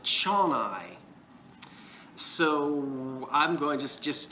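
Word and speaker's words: Zsolnay: to pronounce it and the google translate lady pronounces it chon-i so i'm going just just to use my new jersey accent and say it's changi hungary our chennai factory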